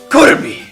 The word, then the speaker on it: Kirby: Kirby like Kirby what cuz in Japanese especially you have to pronounce it with a very hard K Kurby yeah like that but